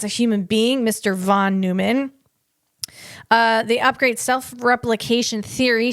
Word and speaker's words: Neumann: And there's something called a von Newman probe. Neu mn. And you can pronounce that however you want, but I'm going to pronounce it Newman.